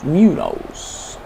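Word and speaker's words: Muñoz: Spanish Munoz.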